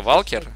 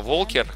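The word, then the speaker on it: Walker: Ну, Валкер, в смысле, там как Варвик, только Валкер. Буквы те же, звучит иначе, а Волкер, который я неправильно произношу, говорю Валкер, он, это как раз просто человек, который ходит.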